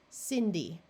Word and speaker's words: Cindy: This C is followed by an I. So we want its soft sound. So this syllable will be sin-D. Remember the Y at the end of a multi-syllable word takes on the long E sound.